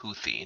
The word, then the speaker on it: Houthi: uh the houthi card it's definitely pronounced houthi not houie anyone who's telling you